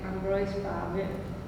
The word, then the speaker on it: Ambroise Paré: Monstruos y Prodigios de Ambroise Paré, como se pronuncia en francés, publicado en 1585.